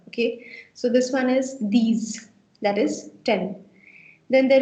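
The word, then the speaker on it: dix: And so you've got 10, which is called these. Now don't get confused here, anyone, please, because the fact is that I've told you that last ka consonant silent rehta hai, but in this case it's an exception.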